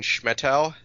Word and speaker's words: Schmettau: my name is Schmidt tell its chairman it's uh it looks long but it's actually only two syllables not too hard to